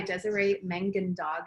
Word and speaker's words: Desiree Mangandog: This is based on the book by Desiree Mangandog, is how you say her name.